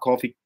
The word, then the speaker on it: Kofi: we want Seth Rollins to and we want coffee cool how do you say it Kofi Kingston coffee come on yah Mon Jamaica Mon